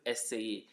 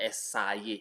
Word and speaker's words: essayer: It's not essayer, it's essayer. Essayer, that's the pronunciation.